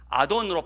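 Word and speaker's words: אדון: 여기에 주여라는 이 히브리어 단어는 아돈으로 발음되어지는 단어인데, 사람 주인에게 또 사람 왕에게 주로 부를 때 이 히브리어 아돈을 사용합니다.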